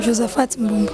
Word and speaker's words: Josephat Mbombo: Comment nom Josephat Mbombo, on a prononcé bien? Oui, on prononce bien Josephat Mbombo.